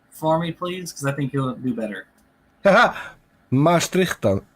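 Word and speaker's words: Maastrichtian: Maastrichtan. Maastrichtan? Maastrichtan? Yes. So Okay. Maastricht is a city in the south of the Netherlands, and it is.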